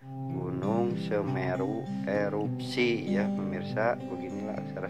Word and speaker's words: Semeru: Nah, seperti ini aksara Sunda ra, gimana dibacanya menjadi ru, kita beri tanda baca panyuku, jadi dibacanya ru ya, Semeru, gunung Semeru.